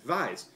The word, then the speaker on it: Weiss: you would pronounce as Weiss. Now science tells us that everybody who would pronounce a W as a V is a Nazi.